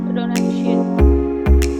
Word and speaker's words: pronunciation: है अपने प्रोनाउंसिएशन किसमें Pronunciation. Pronunciation. Pronunciation. बोलेगा प्रोनाउंसिएशन बोलेगा एक बार फिर से। Pronunciation. Pronunciation. प्रोनाउंसिएशन 4 हिस्सों में बांट दीजिए आप इसको। Pronunciation. ना पर नहीं है, प्रे प्रे प्रे Pronunciation.